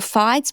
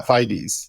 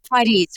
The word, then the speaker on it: Fides: I'd love to segue into your FIDS program. Am I pronouncing that right? Is it FIDS? Yeah, Fides like bonafidees, right? Fides. Okay. My understanding of